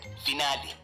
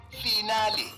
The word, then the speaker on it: finale: to mispronunciation today's word finale origin Italian pronunciation finale meaning the last part of a series commonly mispronounced as final as if you are